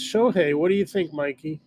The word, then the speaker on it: Shohei: How do you pronounce his first name? I think it's Shohei. What do you think, Mikey? Shohei, yeah.